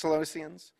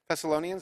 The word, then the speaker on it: Thessalonians: for the bible that's celestians michael's the book of the bible right thessalonians is how you say it okay what is a